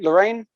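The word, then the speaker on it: Laeran: are currently in above the planet Lorraine. Laren. I believe it's Laren. That's how it is in the audiobooks.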